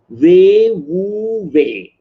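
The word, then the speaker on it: 無為: And another word I like from Chinese, ancient Chinese wisdom, Wei Wu Wei. That's how it is pronounced.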